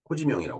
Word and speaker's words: 호지명: 그만큼, 이 호지명이라고 그랬죠. 우리 발음으로.